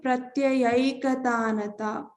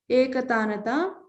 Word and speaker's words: प्रत्ययैकतानता: So pratyaya and ekatanata turns into pratyayaikatanata. So pronounce this as aikatanata. Though when we split it, we have to say pratyaya ekatanata. Remember, when we combine it, it's not ekatanata here, it's pratyayaikatanata.